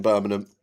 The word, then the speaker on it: Birmingham: Active, a Londoner that now lives in Birmingham. You'll get no G's in my pronunci pronunciation of the city. It's just Birmingham and it always will be too far.